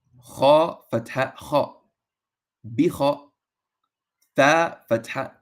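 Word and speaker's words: خاء: And remember that Kha is a letter to where the mouth is full, to where you pronounce it with an AW in English, like aw. So Kha.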